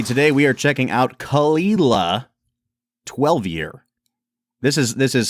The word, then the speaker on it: Caol Ila: all right everybody today we are checking out khila 12E this is this is spelled much differently than it's pronounced Brad yeah it looks like C cow Isa yeah pretty pretty much like C cow maybe